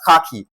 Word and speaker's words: khaki: This is pronounced as khaki. The KHA is stressed.